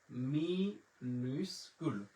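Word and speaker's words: minuscule: মাজুস্কুল, আমার সাথে উচ্চারণ করতে পারেন, মাজুস্কুল, মাজুস্কুল। আর ছোট হাতের অক্ষরকে ফরাসিতে বলা হয় মিনুস্কুল। মিনুস্কুল।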